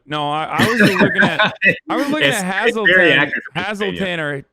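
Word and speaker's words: Hazleton: I think Frackville is funnier, but no, I was looking at Hazelton or Hazeltown, however the fuck you say it. It's Hazelton.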